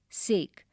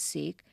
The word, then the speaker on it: sake: cracks narrow gaps openings sake a popular Japanese drink sa is pronounced like fa in father and K rhymes with way expensive costly made his